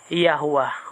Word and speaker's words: Yahuwah: So ang yud, hey, bab, hey in Hebrew, pinopronounce yan na binibigkas na Yahuwah or Elohim Yahuwah.